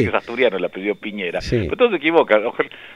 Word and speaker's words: Piñera: es asturiano el apellido Piñera. Sí. Pero todo se equivoca. Piñeira, ¿cómo es la pronunciación adecuada? A ver, Piñera. Piñera.